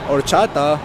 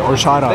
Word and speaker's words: horchata: Horchata. Papi, no se dice horchata, es horchata.